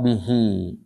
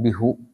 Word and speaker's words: bihi: Di sini wasaddaqa bihi. Bisi ini karena ada ba huruf jar dia maka jadi hi bukan bihu tapi hi.